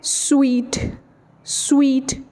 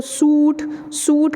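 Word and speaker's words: suite: family stick है तो इसको हम क्या बोलते हैं sweet-sweet ठीक है और लेकिन अक्षरों को नहीं पता होता इसको सूट सूट करके वह बोल रहे होते हैं इस नोट सूट एक अच्छी तरह अनुसार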